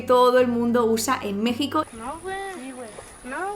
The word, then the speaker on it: México: una muletilla que todo el mundo usa en México.